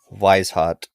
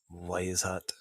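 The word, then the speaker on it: Weishaupt: they're always angry I was angry about something wise hot is how you pronounce it wise hot so Adam we hot is the one who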